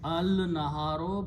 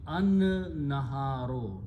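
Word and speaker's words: النهار: Now it will be al-naharo, but noon is a shamsi letter. It gives the sound of lam and pronounce itself twice. So it becomes an-naharo. So tajweed will be an, lam is not pronounced.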